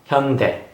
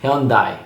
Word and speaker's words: Hyundai: car company in Korea it's written in English hy u Dai we pronounce Hyundai Hyundai but what some people and foreigners pronounce you don't die or high end I see as you